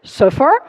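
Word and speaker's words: صفر: can just have uh the Arabic number for zero interestingly enough is pronounced as suffer which says something about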